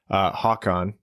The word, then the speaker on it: Håkan: That's how it's pronounced, apparently. Håkan Anderson. Håkan.